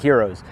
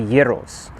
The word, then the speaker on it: gyros: pronouncing it right so for the longest time i thought it was uh gyros or gyros but or heroes but i've heard heroes but it's actually gyros and a brief history